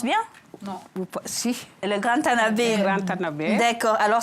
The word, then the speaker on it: Tanaber: Oui, je prononce bien? Non. Si. Le Grand Tanabé.